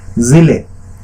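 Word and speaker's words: ज़िले: जिले, जैसे एक शब्द होता है जिले, जा के नीचे यहां पर बिंदी लगी है, ये नुफ्ता है और इसके कारण इसका उच्चारण जो है जिले।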